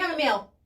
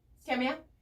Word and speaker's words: Camilla: I too get the name mispronunciation, but then I also get those who don't Camilla? try. Chamomile. My name is not spelled. Camilla. It's not spelled Kamaya. It's spelled Camilla. Like it's legit. Camilla.